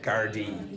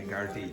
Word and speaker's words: Gardaí: How do you pronounce that word? Again, Gardaí. Yeah, Gardaí.